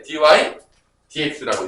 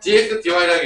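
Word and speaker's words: dy/dx: 위에부터 읽어야 돼. dy dx라고 읽으셔야 됩니다. 진짜요? 아 진짜예요. 거짓말이 아니에요. 그래서 dx dy라고 읽으면 좀 없어 보여요.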